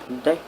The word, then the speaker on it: deque: about deck push front deck or double-ended cues usually pronounced like that is an irregular acony